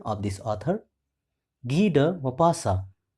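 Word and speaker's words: Maupassant: is G mapasa once again listen carefully the pronunciation of this author g mapasa g mapasa was born on 5th August 1850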